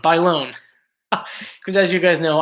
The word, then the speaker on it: Bailon: can't pronounce last name so she phonetically right they loan Adrienne Bailon Bailon because as you guys